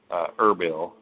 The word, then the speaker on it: Erbil: The sources say that he has fled from Erbil. In fact, it's spelled Arbil, but anybody that knows anybody from that region, it's pronounced Erbil.